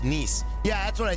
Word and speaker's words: Nice: Yeah, nice French-looking airport. I love it. It's pronounced Nice.